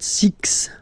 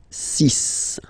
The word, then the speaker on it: six: sun sun sun and be careful here because even if it's ending with this x well you'll have to pronounce it like s okay so you get the sis pronunciation s sis okay so it's not six it's sis all right then here